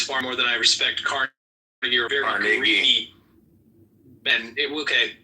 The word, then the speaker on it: Carnegie: more than I respect Carnegie. Or very greedy. And okay, so. Well, pronounce his fucking name right. It's Carnegie.